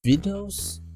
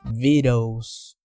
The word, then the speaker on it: victuals: How do you even read this? Vituals? Vicuals? Nope. It’s vittles!